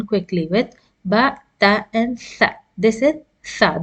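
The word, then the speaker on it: ث: The th you shouldn't pronounce as tha, like in English, the. No, it is pronounced as tha. Wherever in English you find th, you should pronounce as tha. Tha. It's not sa, it's tha. With your tongue between the front teeth, and you pronounce tha. It's tha, light letter.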